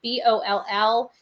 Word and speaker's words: Ball: And this guy's name is Eric Ball, I believe. Boll is the proper pronunciation, from Madison, Wisconsin.